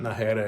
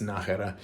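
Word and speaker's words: Nájera: out by the way it's not nahara it's najera and um so I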